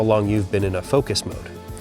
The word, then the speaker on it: Foqos: But, there is an amazing free app made in Calgary, Alberta and it's called Focus. It's spelled with a Q.